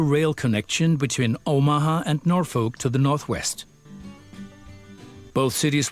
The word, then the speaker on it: Norfolk: and we want to build it uh in Norfolk which is how it's pronounced uh okay uh now the two stations